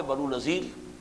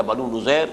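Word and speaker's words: بنو نضیر: بعد سن 4 میں بنو نذیر یا بنو نذیر، اس کے دونوں تلفظ ہیں، ان کی طرف سے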